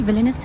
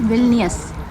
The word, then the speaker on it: Vilnius: अच्छा, मैं इसको बार बार ना विलियस बोल रही हूँ, जबकि ये विलियस है नहीं, इट्स विल्नियस। या कि जो स्पेलिंग के अकॉर्डिंगली अगर मैं बोलूँ तो इसको विल्नियस कहना चाहिए मुझे।